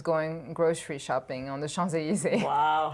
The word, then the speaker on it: Champs-Élysées: It's very cute, but it's you don't pronounce the P. So Champs-Élysées.